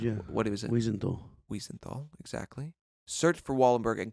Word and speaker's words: Wiesenthal: Wiesenthal, exactly.